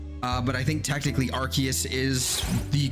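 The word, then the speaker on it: Arceus: so so technically speaking I think it is archus but arus has also been said not arus but arus has definitely been said before in the anime I think uh but I think technically archus is the correct official pronunciation but I I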